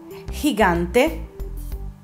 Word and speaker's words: gigante: E o la I, anche la lettera G si pronuncia in modo particolare. Il suo suono è come quello di un'H aspirata. Vediamo l'esempio. Gemelos, gente, gigante, girar.